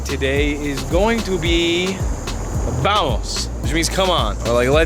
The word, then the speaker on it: vamos: Our Spanish word of the day today is going to be vamos, which means come on, or like let's go. Spelled with a V, but they pronounce V's like B's. So we say vamos.